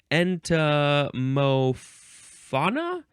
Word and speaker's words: entomofauna: Next is entomofauna? Entomofauna. Let me just make sure I got the pronunciation right.